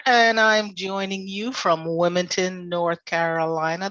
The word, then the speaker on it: Wilmington: Walker, and I'm joining you from Wilmington, North Carolina. That's Wilmington, not Wilmington, because we can't pronounce all those letters.